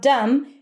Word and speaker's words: dumb: And then we have dumb, but the two D's connect. I played dumb. You don't pronounce a D twice. It's just a little longer. Dumb. No B. Dumb. Close it with an M.